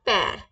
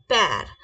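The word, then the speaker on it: père: father को कैसे बोलेंगे फ्रेंच में फादर को बोलेंगे हम पैर कैसे बोलेंगे पैर कैसे बोलेंगे पैर प्लीज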